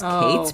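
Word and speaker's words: Cait: named kate and um kate spelled like c-a-i-t now obsessed which is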